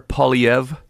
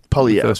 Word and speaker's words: Poilievre: Well, it's French, so it's I don't think he's French, but the name's French. Pierre Poilievre. Poilievre. Sort of a weird R, silent R.